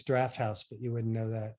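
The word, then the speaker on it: Drafthouse: Saturday October 22nd at the drought house technically it's Draft House but you wouldn't know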